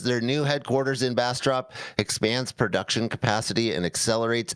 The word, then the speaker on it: Bastrop: Or Bastrop. You know how to pronounce that. I don't. Bastrop. You got it. All right.